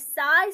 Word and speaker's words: psi: है ना, हमें साइन को पहचानते हैं अभी, इसको बोलते हैं पसी, लिखा जाता है पी एस आई, बट इसको प्रोनाउंसिएशन में is called as साई square at the point according to Max Born।